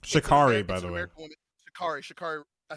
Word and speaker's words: Sha'Carri: I know it's like Sha'Carri, by the way.